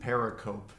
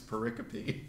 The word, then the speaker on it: pericope: Gary Habermas years ago corrected me. I said pericope. And he said, Mike, it's pericope.